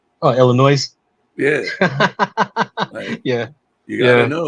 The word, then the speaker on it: Illinois: it's like you know people who put the S on the end of Illinois oh Illinois yeah yeah you gota